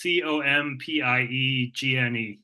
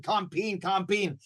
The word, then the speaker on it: Compiègne: I know it's a bit hard to pronounce. It's Compiègne. Good. I'm glad you taught me how to pronounce it. I kept saying Compiègne.